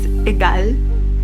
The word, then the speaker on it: egal: nice and satisfying because it's just like two syllables and it's like a girl which markets them or